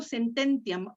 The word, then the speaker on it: sententiam: ¿Por qué acentúo esta? Fíjate, esta, aquí, entiam. Porque la I y la A no hacen diptongo. No hacen diptongo, sí. Entonces, la sílaba ti es la penúltima y no tiene la marca de larga. Entonces hace sententiam. Sí, La sílaba tónica está en ten.